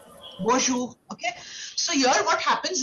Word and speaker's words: bonjour: Bonjour. Okay. So here what happens is the R sound should come from your throat. So you HAVE TO SAY BONJOUR IF YOU want to speak as a native.